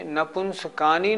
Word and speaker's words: नपुंसकानि: इसके उच्चारण में भी नपुंसकानि नहीं बोलना, नपुंसकानि, का बड़ा नी छोटी, नहीं तो गलत हो जाएगा।